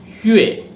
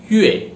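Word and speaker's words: 月: तो चलिए दोस्तों, अब हम मंथ्स के नाम को स्टार्ट करते हैं, कैसे प्रोनाउंस करते हैं। तो दोस्तों, मंथ को, महीने को चाइनीज में बोलते हैं युए, YUE, युए।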